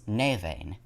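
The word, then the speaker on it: Nemain: final aspect of the morigan is the goddess navain which is spelled as n-e-m-a-i-n navain is another war goddess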